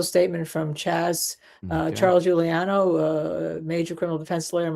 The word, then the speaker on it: Giuliano: Giuliano, is that That's how you pronounce it. Giuliano on the verdict?